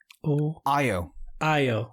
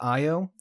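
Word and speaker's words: Ayo: what is her name io okay so it's spelled it's spelled a-y-o but the way that bucky says her name is io ao io whichever way uh for just make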